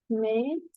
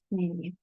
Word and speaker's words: tmeneen: We write it 80 and we pronounce it mean instead of many or 20.